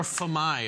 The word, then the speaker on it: FAMAS: It's a French. Famas. It's French. Famas. Or famai, if they're plural.